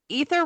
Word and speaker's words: Aether: a while back and she said ether realm and I went I think I've been saying it wrong all of these years.